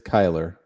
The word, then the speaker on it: Kyler: And I'm looking at his pronunciation. It is Kyler.